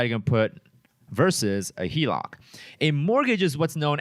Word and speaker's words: HELOC: And some of you guys may have heard of this as a HELOC. Okay, that's what's pronounced or abbreviated as home equity line of credit. People call it a HELOC.